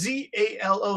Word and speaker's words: Zalo: Yalo is the main, it's pronounced Z-A-L-O. So Zalo in English, Henry, is Yalo. Yeah. Andrew, do you call it Zalo or Yalo?